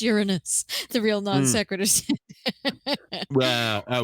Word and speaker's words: Uranus: shows the marbles level of education it's not pronounced your anus it's pronounced Uranus the real non secretary I would argue that